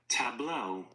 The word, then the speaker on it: tableau: How do you pronounce this? Tableau.